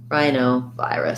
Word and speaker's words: rhinovirus: vi wrists wrist rusts rhinovirus so stress on the eye diphthongs and then less stress on the o and the uh us diphthongs rhinovirus uh the rhinoviruses have